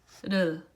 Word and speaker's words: 를: So it starts back a little bit, and then it's as if like some air is pushing it out, but just gently and softly you move it quickly, and then firmly ends by pressing it right above the upper teeth.